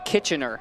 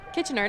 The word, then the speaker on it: Kitchener: feel like Canadians get really angry when you pronounce it wrong. We don't. We're too nice. Okay, Kitchener. Kitchener.